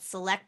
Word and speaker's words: SELLect: us about your company my company is called select sales development and we spell it s-e-l-l-e-c-t but we really want people to